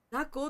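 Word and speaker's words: 雑魚: 雑魚って読むんだって。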